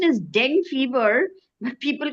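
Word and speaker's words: dengue: It's a it's the correct pronunciation is deng fever. But people call it denu. Dengu for some reason.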